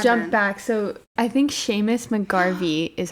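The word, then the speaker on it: Seamus: So I think Sheamus McGarvey is how you say his name.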